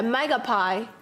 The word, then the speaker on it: magpie: Megapie was pie pronounced like apple pie. Okay, magpie.